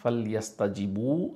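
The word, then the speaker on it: فَلْيَسْتَجِيبُوا: এখানে খেয়াল করবেন এই আলিফটার কিন্তু আলাদা করে কোনো উচ্চারণ নাই, ফাল ইয়াস তা জি বু এভাবেই পড়তে হবে।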